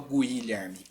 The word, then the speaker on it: Guilherme: pronúncia não é guilher eu não pronuncio U esse U é diacrítico ele é um ío com g g g g depois eu vou pro I direto eu não falo Guilherme Guilherme quero tem encontro